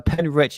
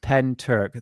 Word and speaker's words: Pentyrch: So um one one thing that people don't realize uh pen rich is pronounced pen turk. There is no pen rick or pen rich.